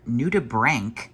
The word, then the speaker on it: nudibranch: This is our nudibranch, I think I learned is how you say it.